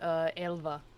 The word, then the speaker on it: Elva: Technically, it would be pronounced Elva, so El- with like a V sound, like.